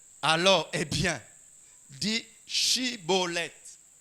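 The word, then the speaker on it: Shibboleth: » Il lui disait, « Alors, eh bien, dis Shibolet. Dis Shibolet. » Et il disait, « Sibolet.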